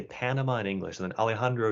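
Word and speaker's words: Panamá: So, for example, when we pronounce the name of Panama in English, even though the word has A's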